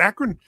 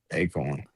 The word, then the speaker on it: Akron: Akron gets in, but Akron's a good team. They've got a. How do you say that school? Say it again. Akron. Oh, you said it a little differently the first time. Acorn.